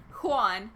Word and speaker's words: Juan: Say it like a Spanish. Juan. Is that... Are you happy now that I said Juan right?